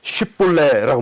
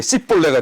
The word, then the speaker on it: 쉽볼레: 쉽볼레, 이 쉽이라는 단어가 SH 발음이잖아요. 쉽. 예? 이것을 이 에브라임 사람들은 발음이 안 되는가 봐요. 이게 쉽이라는 게 안 되고 그냥 S만 되는 거죠. 그러니까 쉽볼레가 안 되고 씹 이렇게 되게 씹볼레가 되는 거예요.